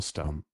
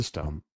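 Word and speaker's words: Stumm: grin why it's Colonel stump he cried he pronounced it like the first syllable in stomach very pleased to meet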